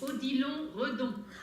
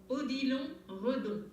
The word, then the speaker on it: Odilon Redon: Yes, Odilon Redon. Ah, Dominique, you're amazing. Okay. Oh, I'm French. Ah, that's why. Dominique. Odilon. Say it again for me. Odilon Redon.